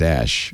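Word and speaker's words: Æ: The thing is that the AE is pronounced Ash, and I think that's the name.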